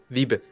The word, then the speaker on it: Wiebe: Wiebe. Wiebe. Wiebe. Wiebe. Wiebe. Wiebe. Oh my god. After Almost like German.